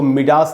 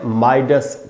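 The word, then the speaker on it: Midas: अच्छा, ये जो वर्ड है दोस्तों, इसको मिडास नहीं पढ़ना है, इसको लोग अक्सर मिडास पढ़ देते हैं, मिडास टच। तो दोस्तों मिडास नहीं है उच्चारण, इसका उच्चारण है माइडस टच।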